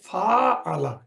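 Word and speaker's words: فاعَلَ: নম্বর derive form হচ্ছে ফা আলা এখানে এই লাল চিহ্ন দিয়ে দেখানো হচ্ছে যে ফা কালেমার পরে একটা একটা ফা একটা আলিফ একটা আলিফ আসছে যার কারণে তার উচ্চারণটা হচ্ছে ফাআলা এই ফাআলা হচ্ছে ডিরাইভ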